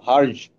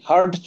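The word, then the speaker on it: Hertz: হার্টজ, টি এর উচ্চারণ নাই, বর্গীয় জ, হার্জ। টি এর উচ্চারণ নাই, হার্টজ বলা যাবে না, হার্জ বলতে হবে, হার্জ।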